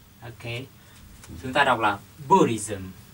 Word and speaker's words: Buddhism: chúng ta đọc là buddhism buddhism B bạn chúng ta nhấn phần một buddhism à là là về